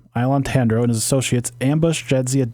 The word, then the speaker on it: Ilon Tandro: Ilon Tandro, so that's how you say his name. Ilon Tandro and his associates ambush Jadzia Dax in her quarters and attempt to kidnap her.